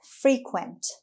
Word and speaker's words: frequent: word number four is frequent frequent frequent the stress is on the first syllable frequent it means happening